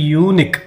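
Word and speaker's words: unique: ಅಂತಕಂತಹ ಒಂದು ಪದ ಏನಿದೆನೋ ಇಲ್ಲಿ ಆರಂಭದಲ್ಲಿ ನಾವು ಯು ಅನ್ನ ಗಮನಿಸತ್ತೇವೆ ಯು ಅಂತಕಂತದ್ದನ್ನ ನಾವು ಅಂತ ಆಗಲಿ ಅಥವಾ ಉ ಅಂತ ಆಗಲಿ ಇಲ್ಲಿ ಉಚ್ಚಾರಣೆ ಮಾಡ್ತಾ ಇಲ್ಲ ಒಂದು ವೇಳೆ ಅಥವ ಉ ಅಂತ ಉಚ್ಚಾರಣೆ ಮಾಡಿದ್ರೆ ನಾವಆಗ ಆನ್ ಅನ್ನ ಬಳಸಬೇಕು ಎಷ್ಟೋ ವಿದ್ಯಾರ್ಥಿಗಳು ಈ ಒಂದು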